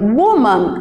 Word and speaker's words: woman: A palavra woman, por exemplo, ó, o O tem som de U, então eu leio woman, apesar de escrever com O.